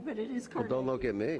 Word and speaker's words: Carnegie: And it is Carnegie. No, I didn't say anything. I know, but so many people mispronounce Carnegie, but it is Carnegie.